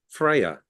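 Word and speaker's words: Freja: I think was called Freya, spelled with a J.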